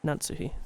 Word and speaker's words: Natsuhi: じゃあ、夏日姉さん Natsuhi. Yeah, so pronounce or enunciate the last part.